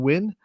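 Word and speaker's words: Wynn: also on the home team is sebrings Reagan win and that is her second straight Allstar appearance out of Sebring and if you have a name like win Scotty you better be either a really good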